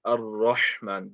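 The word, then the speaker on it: الرحمن: You want to make sure that it's not Ar-Rahman, it's Ar-Rahman. The ha needs to be pronounced correctly.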